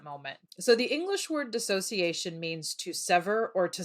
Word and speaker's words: dissociation: what we're here to talk about is called disassociation made simple Yes technically dissociation made simple but what you just said is a common mispronunciation misconception of the word a lot of people call it disassociation and I like to say it's not all